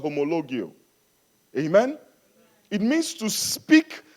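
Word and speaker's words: ὁμολογέω: The word confession in the Bible comes from a Greek word pronounced homologio.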